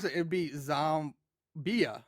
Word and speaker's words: Xohmbeah: So I'm thinking if you pronounce it, it'd be Zombia, right, or zombie, and the H is silent.